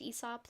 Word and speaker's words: Aesop: That and everyone says Aesop, even though it's like probably supposed to be pronounced Aesop, like the poet, but I refuse to call him Mm, that.